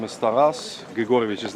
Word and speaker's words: Taras: How do you pronounce that? Taravshenchenko? Yeah, the first name is Taras.